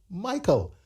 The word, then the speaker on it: Miqueal: And speaking of your name, Michael, very unique. Ladies and gentlemen, it is spelled Miqueal, but it's pronounced Michael.